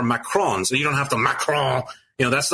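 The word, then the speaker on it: macaron: remember she insisted on the French pronunciation of the maon and every time she would say maon I would say oh yeah macaroons and her face was just like you can't say that it has to be macron it's really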